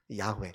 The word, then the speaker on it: 야훼: 원래 정확한 발음으로 하자면 야훼라고 발음을 해야 됩니다. 야훼.